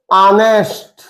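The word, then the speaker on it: honest: honourable honourable president कुछ ध्यान दीजिएगा एच से शुरू है सब का सब एच से शुरू है और एच किस में आएगा कसोनेंट में लेकिन इसका जब उच्चारण हम करेंगे तो उच्चारण का मतलब लिखिए इसको आवर इसे एयर इसे ऑनेस्ट इसे ऑनरेबल और ध्यान देने वाली बात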